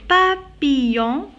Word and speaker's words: papillon: Mais, le papillon, deux L, je la prononce ici comme YA, Y.